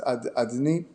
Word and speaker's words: Adonai: The name that we pronounce as Adni.